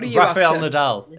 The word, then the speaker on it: Rafael Nadal: charming way to start the day haley um raphael nadal is the is by the way is how you pronounce it raphael am i in the wrong